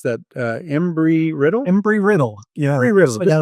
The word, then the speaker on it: Embry-Riddle: How do you pronounce that? Embry-Riddle? Embry-Riddle.